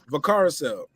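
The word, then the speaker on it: Valcárcel: Vacarcel.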